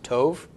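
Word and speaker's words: טוב: adjectives I've been using with all of these Tove is spelled Tait Kalam Bob with colum and then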